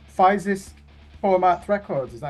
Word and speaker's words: Fysisk Format: Yeah, that label that you're on, is it called Physis Format Records? Is that how you pronounce it? Yeah, fysisk format.